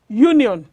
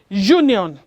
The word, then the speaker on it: union: For example, the word union does not take an because it is pronounced as union.